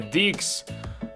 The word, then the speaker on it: Dix: burzy mojego takiego poglądu Dix to się wymawia jako di di United z pewnością wygląda